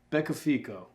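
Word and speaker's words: beccafico: oven 350 degrees for 20 minutes and I mispronounced the name of that earlier it's Becca FICO b-e-c-c-a-f-i-c-o so it's usually done with sardines the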